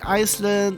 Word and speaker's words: island: Travel to the island. To the island. I keep on doing that because of how it's spelled in terms of letters. Because seriously, the S is silent.